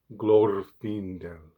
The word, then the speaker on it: Glorfindel: I won't be saying Glorfindel. I will instead be saying Glorfindel.